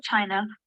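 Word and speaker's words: Qin: who United all of China under one rule in 221 BC so what was the name of the first emperor I hope this one is pronounced weird but pronunciation is chin I'm having trouble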